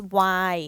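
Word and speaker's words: ไวน์: So it's Y. If you remember, it means wine. We don't pronounce the nonu, the N.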